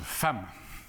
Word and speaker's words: femme: m eux se prononcent femme qui a sondé mais ya pas de adam femme a bien vu c'est exact mais c'est comme ça le e de femmes se prononce à et le petit garçon